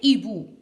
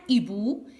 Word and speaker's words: hibou: On ne fait pas la liaison. On dit un hibou, des hiboux.